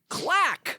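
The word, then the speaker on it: claque: It's the word clack. Clack. Which is spelled C-L-A-Q-U-E.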